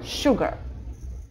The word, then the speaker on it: sugar: Запомните, что вот это S почему-то читается как Ш, это неизвестно почему. Просто факт, sugar.